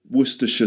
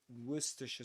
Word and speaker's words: Worcestershire: It's wor it's actually two ways of saying it. You can do the full way worersha sauce and some people say worcers sauceource. Okay. So you've got two pronunciations. You can say some people say wora sauce others say wora sauce.